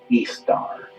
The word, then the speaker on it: Ishtar: reminisce became known as Ishtar which is pronounced east star and her moon a